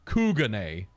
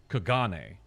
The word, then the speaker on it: Kugane: Oh yeah, why did Turtle Boy pronounce it Kugane when everyone else I've ever heard pronounce it, it's Kagane?